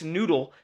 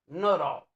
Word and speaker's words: Nuttall: Expert Nick's Noodle says scientists are having a hard time solving this mystery with natural occurring explanations. Noodle? That's what it says. Spell it. N-U-T-A-L-L. Nuttall.